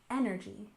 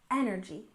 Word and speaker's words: energy: energy you remember that we stress the second syllable in renewable and the first syllable in energy energy renewable energy of course refers